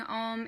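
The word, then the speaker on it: AUM: And some people find it helpful to know that when they're chanting Om, it comes a little bit more in the form of A-U-M, Om, and not just Om, O-M, even though it's spelled O-M.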